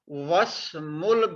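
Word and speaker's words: وَاسْمُ: So there is a waw before this alif. So we have dropped the kasra and we will read this waw with the meme. Wasmul binti Aminatu, and the name of the girl is Amina. Wasmul binti. We will not read this alif. This one. We will not pronounce them.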